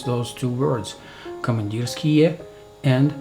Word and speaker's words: Komandirskie: session but at least you know how to pronounce those two words commandeer ski and Stormin ski not command us key and storm on ski commandeer ski and too much skill okay now speaking about